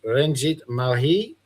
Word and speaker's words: Ranjit Malhi: We got the wonderful Renjit Mali. Is that how you pronounce it, mate?